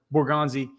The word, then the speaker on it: Borgonzi: He's what did I say his name wrong? No. Borgonzi.